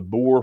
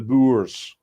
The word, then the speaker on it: Boer: The plight of the Boore farmers has been going on for years. Hang on, let me try to say it like Jack. The Boers. There we go.